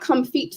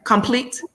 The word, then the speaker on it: Comfeet: I'm at Comfeet Foot Care Clinic. I'm sorry. Complete?